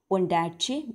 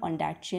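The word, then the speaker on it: Ondaatje: किसने जीता है मैन बुकर प्राइज़, जो है ओंडैटचे ने, माइकल ओंडैटचे ने क्या किया है, इंग्लिश पेशेंट बाय जो Michael ओंडैटचे wins the golden man Booker price.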